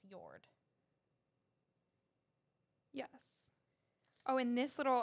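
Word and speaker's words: Jord: J-O-R-D is pronounced Yord.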